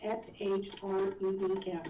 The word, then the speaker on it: shreem: We're going to do shreem. And this is another bija sound. And it's spelled, you would pronounce it S-H-R-E-E-M, shreem.